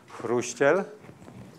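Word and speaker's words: Chruściel: If you want to do it right, it's Chrusciel.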